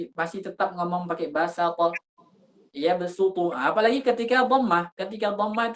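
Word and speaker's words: يبسط: Jadi karena sering mereka ucapkan bahasa ta, jadinya ikut ketebalan sinnya, jadinya basata. Makanya kan sin dengan shad itu kan makhrajnya satu. Jadi kalau kita berikan sifat tebal ke sin itu jadinya shad.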